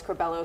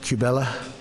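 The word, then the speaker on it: Curbelo: singled out a few of them including Carlos corbello whose name he mispronounced let's listen I'm not sure that I should be happy or sad but I feel just fine about it Carlos chabela Mike Coffman do bad Mike Mia love Mia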